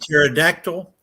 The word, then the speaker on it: pterodactyl: You know, the P is silent, George, in the word pterodon. Yep. And pterodactyl. That's why if one comes